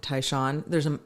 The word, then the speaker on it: Tai Shan: Tai Shan is how you pronounce my last name. Tai Shan. Instead of Shan.